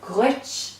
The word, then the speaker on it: Duit: The Duit then is something like a hard G in English, like in the word girl, Duit, but it's slightly more guttural in Irish. It's a sound we don't have in English.